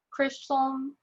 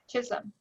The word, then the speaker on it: Chisholm: say it wrong here Chris some middle school did I say it right or not ISM she said thank you Chisholm right I can't even look